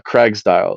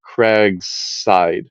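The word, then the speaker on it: Cragside: the plan on D drawing this is a Craigs dial oh sorry craigside I always mispronounce it uh craigside was a a foundational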